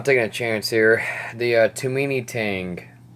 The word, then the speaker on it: Tomini: a chance here the tomini tang i think it's how it's name pronounces too many that sausage it alright